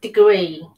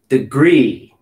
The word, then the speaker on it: degree: Degree. Degree. Degree. Right. Remember the hash mark would go where? Between the E and the G, the first E.